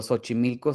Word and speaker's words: Xochimilco: Es raro porque, por ejemplo, Xochimilco sí es con X y ahí sí es Sí. con Sh.